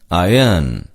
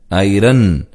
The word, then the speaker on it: iron: ஆர் என்ற எழுத்து silent. அயர்ன் என்றுதான் உச்சரிக்க வேண்டுமே தவிர ஐரன் என்று உச்சரித்தல் தவறு.